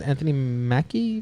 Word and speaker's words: Anthony Mackie: The other thing is Captain America's Anthony Mackie.